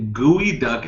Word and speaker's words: geoduck: England clam chowder anymore gooey duck is the work worsening that's like worst of all it's spelled geoduck so who even knows aight you okay yeah